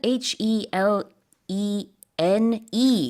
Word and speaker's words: Helene: 그럼 헬렌이 아니라 헬린 It's 이렇게 Helene, 발음하는군요. yes, as the name. The emphasis is on the second syllable as opposed to Helen.